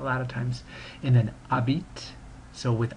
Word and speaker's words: habites: of it like that, habite. The H is never pronounced in French, and usually consonants at the end of a word are not pronounced, so the S is completely silent as well.